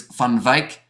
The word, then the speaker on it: Van Wyk: And also we have got there Van Wyk, is pronounced like English words, Van Wyk, says it was there from Vincent.